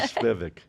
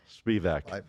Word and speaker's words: Spivack: See, she said it right. How come I didn't say her name right? I've had practice. Alyssa Spivak. Spivak. There you Spivak, go. Spivak.